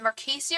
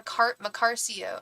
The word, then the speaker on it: Macarcio: Sorry, is it Marcasio or Macarcio? Macarcio, I'm sorry, Macarcio.